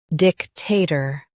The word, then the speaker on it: dictator: In US, stress dic. In UK, stress tay. Dictator.